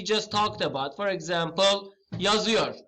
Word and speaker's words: yazıyor: Speaker button, just click on this and hear the pronunciation. Yazıyor. Yazıyor, you see that?